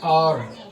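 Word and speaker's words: hour: एन आर एन एच ओ यू आर एन आर एन आर यहां H silent है। आय की आवाज निकाल रहा है।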